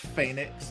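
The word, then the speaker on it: Fénix: But it's pronounced Phoenix in Spanish. Phoenix, because the E has an A sound.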